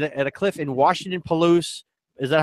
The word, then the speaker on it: Palouse: a selfie in at a cliff in Washington Palouse is that how it's pronounced County Palouse yes the Palouse River yeah the Palouse Falls